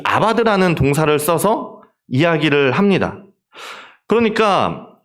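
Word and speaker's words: עבד: 저게 이제 아바드라고 읽습니다. 그 히브리어는 오른쪽에서 왼쪽으로 읽습니다. 거꾸로 읽는데 이제 아바드 경작하다, 이제 노동하다라는 말이고 이제 이게 명사로 에베드가 되면 이제 종이 되는 겁니다.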